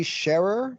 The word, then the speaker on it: Sherer: Yeah, so my name's Sherer, pronounced like someone who shares.